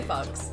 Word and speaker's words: Fox: That last name, by the way, I'm pretty sure it's pronounced Fuchs, but we say Fox.